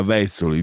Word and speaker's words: Vezzoli: Dino, Vezzoli o Vezzoli, io vengo dal nord-est, l'accento è sdrucciolo. Allora, Vezzoli, di pugni e di cuore.